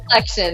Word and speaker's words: COLLXTION: COEX and petty pronouncement collection it's just you you replace that you see with the next okay collection I see